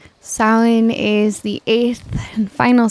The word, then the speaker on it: Samhain: brief visualization with samhain though it looks like it's spelled samhain selling in mind and spirit and ether right now silen is the eighth and